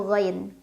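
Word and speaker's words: غَيْب: dengan huruf qamariyah yaitu ghain. Cara bacanya alif lam dibaca jelas. Humul ghai. Ghai. Ada harf lin karena ada ya sukun sebelumnya fathah, dibacanya cukup dilunakan. Ghai.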